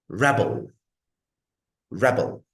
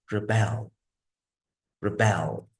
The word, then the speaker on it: rebel: one more example again when it's noun the stress is on the first syllable when it's verb the stress is on the second syllable let's pronounce it according